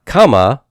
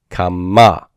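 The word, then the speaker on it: קָמָה: It's not kama like the cal perfect 3fs, but kama, kama, accent that final syllable.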